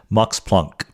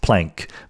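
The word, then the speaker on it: Max Planck: cannot help but say Mox Plunk, okay? Because I just look at the word plunk and I know that it would not be pronounced plank by a real German speaker or Mox Plunk himself.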